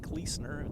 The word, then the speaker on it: Klusner: We pronounce it Kleesner. It's Klusner here, really good coach, really good guy, in charge of this program.